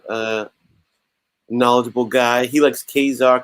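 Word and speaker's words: Ka-Zar: knowledgeable guy he likes kazaar khazal sounds too hocus i agree with you dave kazar is the way i've always said it as well yeah that's how i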